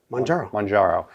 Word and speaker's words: Mounjaro: Well, okay, just think of Mount Kilimanjaro. Okay. So forget the Mount Killa. Mounjaro.